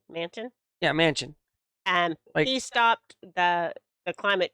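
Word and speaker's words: Manchin: happened a few days ago but joe uh manson how do you say his last name manson yeah mansion and he stopped the climate change funding that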